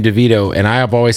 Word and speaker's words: Davido: on the album with me yo you just pronounced your name DeVito and I have always said that but when I first met you you said David O so I'm confused David O